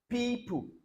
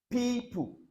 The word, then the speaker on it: people: Then EO, people, people, not people, people, people. If I want to transcribe now, normally the last vowel will be missing.